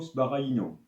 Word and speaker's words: Sbaraglino: appellent donc le barino c'est écrit comme ça la prononciation ce serait plutôt sparaino on l'a déjà vu